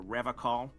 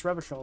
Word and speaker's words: Revachol: I've been tempted on occasion, but someone has to stay strong for Revacol. That's a different way of pronouncing it. I've never heard anybody pronounce Revachol like that.